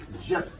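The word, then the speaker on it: Djep: Jep. You call it waps, you call it what you call it, Jack Spaniel. Right. Jep. Right, so Jep is a patwa word. It's D-J-E-P. That's how it is spelled.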